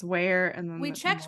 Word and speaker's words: Weir: I think it's Where. Yeah. Like Johnny Weir, the figure skater.